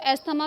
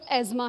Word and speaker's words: asthma: इसको एस्थमा भी पढ़ते हैं, लेकिन जो इसकी सही प्रोनाउंसिएशन है वो एज़मा है।